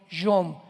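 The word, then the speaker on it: יום: Y tiempos o días son yom, Y o M de mamá.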